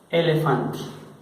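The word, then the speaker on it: éléphant: Por ejemplo, vamos a ver la palabra elefante. La palabra elefante, bueno, se pronuncia, dijimos, como en el español, elefant.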